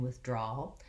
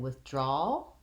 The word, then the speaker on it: withdrawal: So in withdrawal, the draw syllable is the one that is longer, has a clear vowel, and is more stretched out.